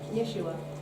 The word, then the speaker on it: Jeshua: How do you think you pronounce that versus Joshua or Jesus? Yeshua. Yeshua. Okay. I'm not a Hebrew Just scholar. Yeshua, Also in Hebräischen gibt es die Vokale nicht,